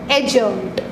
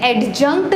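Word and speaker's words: adjunct: ठीक, एडजंक्ट नहीं होगा वो, एडजंक्ट, क्योंकि ए और जे के बीच वाला जो डी होता है वो क्या होता है, साइलेंट होता है।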